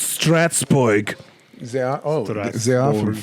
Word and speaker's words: Strasbourg: It's Strasbourg.